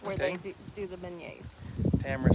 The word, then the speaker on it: beignet: Mimi B says it's pronounced beignet.